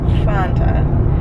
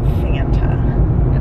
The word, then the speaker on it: Fanta: plate so then i started talking about fonta because that's how you say it fonta and it drives me up a wall that americans call it fanta it's not it's not